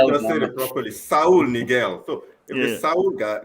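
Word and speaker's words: Saúl Ñíguez: Saul Niguel.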